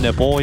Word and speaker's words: NPL: NPL, but pronounced nipple.